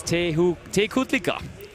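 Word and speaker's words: Tecuhtlica: Basti, can you pronounce it for me again? I totally can. It's Tekutlica. Or Tehutlica?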